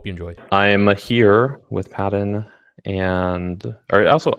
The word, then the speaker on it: Paden: Like what I tell them is like, how do you pronounce instead of P, make it a J, right? What is it? Yeah, Jaden.